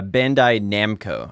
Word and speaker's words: Bandai Namco: it uh excuse me it's uh bandai namco i said it wrong bandai there you go yep yeah i think